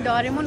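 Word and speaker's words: Doraemon: I think real pronunciation डोरेमोन होता है, लेकिन क्योंकि हमारा बचपन इटली में गुजरा है ना, तो इटालियन लोग इसको डोरेमोन नहीं डोरेमोन बोलते हैं।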